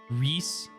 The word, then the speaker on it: Rhys: Peace by the way Rhys rhymes with peace Rhys okay okay because